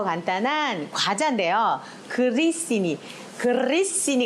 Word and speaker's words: grissini: 간단한 과자 안되요 그리스인이 그리스 씬이 가 맞아요 글리신 이라고 많이 쌓였어요 틀림 발음 이에요 글리신 이 그 메일이 들어가야 되구요 그 씬이 가 봤거든요 굴러 줘야 됩니다 그리스 인의 ss 2 개요 식당마다 이렇게 테이블에 보통